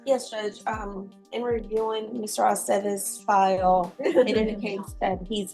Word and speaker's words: Aceves: It's always ve. Aceves.